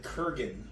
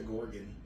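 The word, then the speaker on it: Kurgan: got in my mouth it's apparently the Kiran not the Gorgon oh okay I've been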